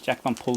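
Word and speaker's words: Jack Van Poll: This is a reissue, Hijacking with Jack Van Pol Trio. Jack Van Pol Trio. Yeah, that's exactly how you pronounce it.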